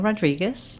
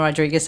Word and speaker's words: Rodrigues: And then Rodrigues, and I always say R-I-G-U-E-S as in Sam. So it's not confused with a Z at the end.